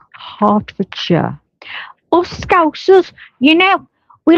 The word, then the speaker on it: Hertfordshire: See, I would say Hartford Shshire. Well, you told you, but it's Hartfordshire.